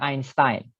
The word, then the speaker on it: Einstein: Jadi Einstein ini dibacanya Einstein.